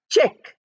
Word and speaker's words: check: Now here C is pronounced as ch, CH is pronounced, and CK, C is not pronounced at all, only K is pronounced. So what happened to the C? We don't know. C is not there at all.